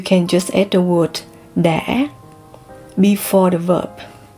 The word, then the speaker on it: đã: Now if you talk about the past, you can just add the word đã before the verb. Đã. So in Southern Asian, you can pronounce as đã or đã.